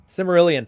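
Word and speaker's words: Silmarillion: his symbol aryan thing or similar how you pronounce that stupid book what symbolian yeah the tolkien one oh still merlin simerilian thank you very much but that was just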